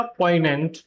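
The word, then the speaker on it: poignant: ये जो जी है ये म्यूट होता है। ये जो एन है इसकी वजह से ये जो जी है ये म्यूट हो जाता है। जैसे कि यहां आप देख सकते हैं अलाइन फॉरेन और सेम इसी तरीके से वर्ड होता है डिज़ उसमें भी आप इसको देख सकते हैं। गॉट इट तो इस वर्ड को बोला जाएगा पोइनेंट।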